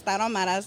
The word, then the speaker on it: Tarahumaras: Okay, my restaurant is Tarahumaras #2.